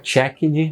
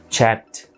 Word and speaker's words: checked: Não é worked, não é checked, não é cooked. É worked, checked, cooked. É como se a gente tivesse pronunciando um Tzinho mudo. KT no final.